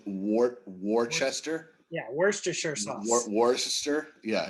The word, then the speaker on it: Worcester: don't know anything about worcester i don't even know how to say it don't want to know anything about worcester worcester worcester it's actually phonetically is spelled wart worchester yeah worcestershire war sister